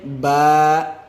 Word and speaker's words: با: لہجے میں ادا کریں۔ اردو تلفظ سے پرہیز کریں، یعنی بے، تے، سے، ہے، خے، تویں، زویں وغیرہ ہرگز نہ پڑھیں، بلکہ با، تا، ثا، حا، خا، تو، ظا پڑھیں گے۔ ان 29 حروف میں